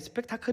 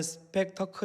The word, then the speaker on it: 스펙터클: 스펙터클 이라는 말을 아십니까 보통의 스펙타클 이라고 보통 쓰는 단어인데요 원래 발음은 스펙터클 이라는 발음입니다 이 단어는 이 구경거리